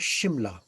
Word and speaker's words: Shimla: So the S is normally pronounced as a sh. Uh, so Simla was always pronounced locally by the local people as Shimla.